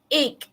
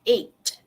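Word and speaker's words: eight: 8, egg, kan? Instead of 8. Okay, so it should end with a th sound, 8, instead of egg.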